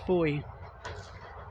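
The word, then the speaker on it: Fowey: it's it's looks it's sorry f-o-w-e-y it's pronounced for you don't ask me why all right this takes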